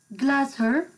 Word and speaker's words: glacier: Also, you can pronounce this word as glacier. Glacier. It's an American word. If you want to pronounce it as glacier, it's American pronunciation. And glacier as British.